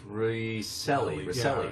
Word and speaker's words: Recile: spell your name but yet it's pronounced ricely it's for congress